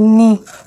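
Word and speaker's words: knee: एन E double के N double E नी। के silent है।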